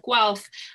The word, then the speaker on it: Guelph: in the University of Guelph it is pronounced as though there was a w in the title and we're located for